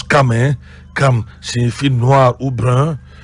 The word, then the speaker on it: Cham: On a vu que Cham, si vous voulez, on prononce Cam.